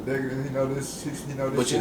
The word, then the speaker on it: Decadence: Yeah, it's Decadence. It's DECADENCE, I believe. So it's Decadence. It took me a while too. I was saying it wrong the first couple of times